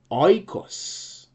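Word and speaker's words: οἶκος: In the word oikos, it's still a smooth breathing mark, so it's oikos.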